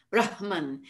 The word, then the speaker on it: brahman: a wonderful rich pronunciation he will say brahman but in the vedic chant especially and that's carried over into post-vedic chant as well we simply reverse the sounds because it rolls out of the mouth more much